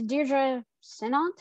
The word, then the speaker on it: Deirdre Sinnott: and this week my special guest is deidre sinat i hope i pronounced that right welcome to the show oh